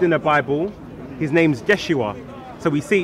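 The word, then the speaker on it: ישוע: And then we see later on, it was shortened to Yod Shin Wav Ein, pronounced Yeshua.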